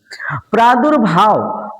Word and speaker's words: प्रादुर्भाव: प्रादुर्भाव प्रादुर्भाव का मतलब है प्रादुर्भाव यहाँ पे उड़ंतुआ र का उच्चारण उस वर्ड के पहले जहाँ पे वो लगा हो।